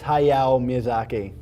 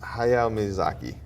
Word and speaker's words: Hayao Miyazaki: you know how to say it yeah it's hayao miyazaki hayao miyazaki awesome all right so he's the creative howls